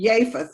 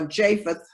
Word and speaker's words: Japheth: was ham shem and japheth or japheth that jay is not pronounced like a j with the three sons